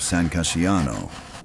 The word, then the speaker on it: San Casciano: on the hills of San Casciano, pronounced San Ca-scia-no, and wrote the most dangerous handbook ever placed in a ruler's hand.